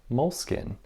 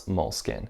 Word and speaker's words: Moleskine: Now you'll notice that I've changed my pronunciation from Moleskine to Moleskine, basically just because that was the most common recommendation I got for how to pronounce Moleskine. And I feel like I will be better understood and less hated if I say Moleskine.